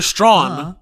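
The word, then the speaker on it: Straughan: Stragan? Oh right, I can just go to crew. Sorry, you're right. Yeah. Peter Strawn.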